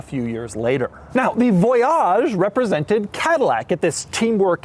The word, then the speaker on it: Voyage: Let's start on the outside of the Voyage, and by the way, yes, it is pronounced Voyage, not Voyage. They wanted to give it a little French flair, and they certainly got